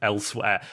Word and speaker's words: Elsweyr: of expansion for their Elder Scrolls Online called Elsewhere. Now, it's always fascinated me how shit that is that the Elder Scrolls has a continent just called Elsewhere.